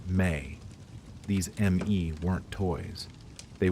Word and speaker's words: me: They had a concept called ME, pronounced May.